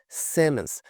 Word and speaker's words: Simmons: Simmons. Note que esse O aqui tem um som mais puxado para o E, né? É um som bem diferente mesmo que tem essa letra dentro desse nome aqui.